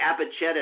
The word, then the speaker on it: Apacheta: And before we jump into some more in-depth questions about Apacheta, and by the way, Apacheta is spelled A-P-A-C-H-E-T-A, like Apache with T-A on the end.